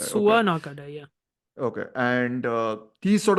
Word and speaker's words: Tatsuya Nakadai: How do you pronounce it? Tatsuya Nakadai. Nakadai. Okay. Tatsuya Nakadai.